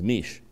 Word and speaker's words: Meashey: typically I say, hi, my name is Mish. It rhymes with leash, which I should be kept on.